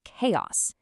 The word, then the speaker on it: chaos: So that ch makes a hard k sound, giving us chaos.